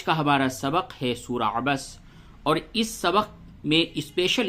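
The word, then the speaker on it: عَبَسَ: کا ہجے کر لیں۔ عین زبر ع، با زبر با، سین زبر سا، عبس، واو زبر و، تا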